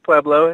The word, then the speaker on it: Pueblo: you doing today am I doing okay we're pronouncing preo you're doing pretty good yeah just peblo it's a great town so it's always been